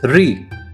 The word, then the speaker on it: リ: This is ri.